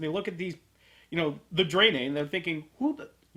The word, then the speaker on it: Draenei: why it's like, and why all of us said Draenie at first because I believe it's spelled Draenie, Something like NEI or something like or EI. DRANEI, something like that. It's like you want to say Draenie, but I'm pretty sure it's Draenei.